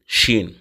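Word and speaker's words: شين: தரும் இரண்டாவது உள்ள அந்த ஷீன் இருக்குல்ல அதுதான் புஷ்ன்னு காத்து வர்ற மாதிரி அதாவது இங்கிலீஷ்ல எஸ் ஹெச் போட்டா என்ன உச்சரிப்பு வருமோ அந்த மாதிரி ஷ ஷி ஷு அப்படிங்கிற உச்சரிப்பை தரும் அதுக்கு அடுத்து பச்சை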